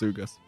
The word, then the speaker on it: Sugus: should probably ask sugus am I pronouncing your name correctly he's a pronounced sugus y I just ignored